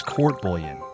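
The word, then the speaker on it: court-bouillon: The fourth dish is court bouillon, pronounced "oob-yon" in Louisiana despite what French phonetics would suggest, which is a fish stew that is one of the signature dishes of rural Creole cooking.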